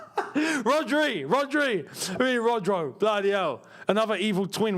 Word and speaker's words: Rodri: Rodro? Who the hell was Rodro? Rodri.